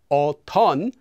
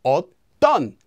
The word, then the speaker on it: 었던: Notice it doesn't become 어떤, it naturally becomes 어떤.